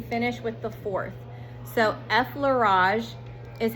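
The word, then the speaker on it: effleurage: So, effage is how you pronounce the first one and it's circular very light circular motions.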